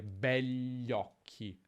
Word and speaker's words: begli occhi: Nella pronuncia è più comune dire begli occhi, gli occhi, senza dire quella I praticamente.